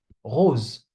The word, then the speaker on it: rose: We never pronounce the e at the end. How do you want to pronounce it? Rose. And that's it. Rose. You will stop at the s.